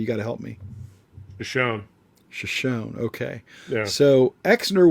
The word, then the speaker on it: Shoshone: I can't pronounce it, Terry. You got to help me. Shoshone.